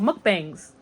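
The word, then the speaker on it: 먹방: Oh, mukbangs. You guys know what mukbangs are, right? That's how it is in English, but it's actually pronounced mukbang in Korean.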